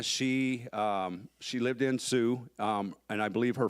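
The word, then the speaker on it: Sioux: um a little Community called Sue North Carolina spelled like the Indian name s IO ux and uh when let's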